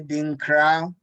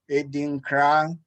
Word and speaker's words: Adinkra: And please, I kind of helped out already, but could you help us with the pronunciation of this, Dad? Edinkra. Edinkra. Edinkra.